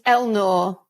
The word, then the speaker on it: Elnaugh: Have I pronounced that correct, Rachel? It's Elnaugh.